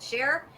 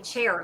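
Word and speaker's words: Cher: Why do I keep saying chair? Like I don't know how to pronounce share. You know, you know Sher was Sher was uh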